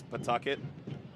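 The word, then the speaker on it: Pawtucket: I've been told the W is silent for the locals up there. It's not Pucket, it's Pucket.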